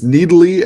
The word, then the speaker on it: Nidalee: Nasus and Fiddle. That's how you say it. Nasus? It's Nidalee and Nasus.